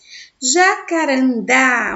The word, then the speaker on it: jacarandá: Jacarandá, olha só aí, a última sílaba mais forte se chama o quê?